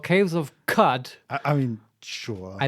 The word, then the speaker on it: Qud: by the developers and they always say caves of cut and not caves of quot as I have previously said so now I'm trying to correct myself cuz surely that is the correct pronunciation count yeah we'll get